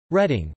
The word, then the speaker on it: Reading: County after Northamptonshire England reading Berks County after reading pronounced Reading Berkshire pronounced Berkshire England